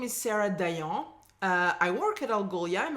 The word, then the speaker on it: Sarah Dayan: And I can say it properly, Sarah Dayan. Alors Sarah, on y va.